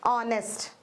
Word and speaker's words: honest: You are not able to listen the alphabet H. H is silent here.